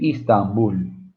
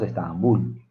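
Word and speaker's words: Istanbul: Se escribe Istambul. Nosotros decimos Estambul, decimos a los peruanos, decimos Estambul. Es Istambul. Muy bien, muchachos.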